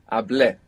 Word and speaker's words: hablé: Well, the accent is on the E. Perfect. Hablé.